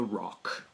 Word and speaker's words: roc: most of legendary birds of antiquity is the rock or a rock so the rock yeah not